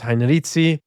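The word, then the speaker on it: Heinrici: As far as I know, the general consensus is Heinrizi.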